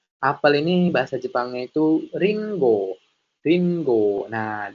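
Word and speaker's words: りんご: Apel ini bahasa Jepangnya itu ringo. Ringo. Nah, di sini ada huruf ko yang diberikan tenten sehingga dibacanya menjadi go minasan.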